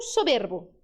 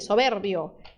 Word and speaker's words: soberbio: Tom soberbo. É o tono soberbo. Assim? Tá certo? Não, cadê o erro? Aqui, tem uma letra I, soberbio.